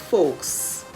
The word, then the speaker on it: folks: in the word knife the l in the word folks f o l k s